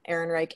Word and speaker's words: Ehrenreich: Well, for me, so my biggest thing, and I guess this is a good transition into talking a little bit about Alderaan Ehrenreich, is that, which I'm assuming is how you say his name.